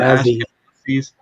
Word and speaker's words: Ashkenazi: So the Ashkenazis.